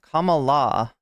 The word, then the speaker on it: Kamala: not as a candidate comma La it's like come alive when the curtain calls